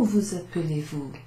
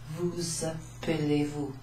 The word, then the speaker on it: vous appelez-vous: Comment vous appelez-vous? Comment vous appelez-vous? I should point something out. When you've got an S followed by a vowel, you tend to pronounce that S.